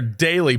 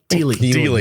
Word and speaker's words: Dealey: If you go back to Daly Plaza, is that how you say it? Daly Plaza? Dealey. Yeah.